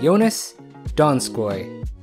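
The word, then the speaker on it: Donskoi: At number 7, we have Jonas Donskoy.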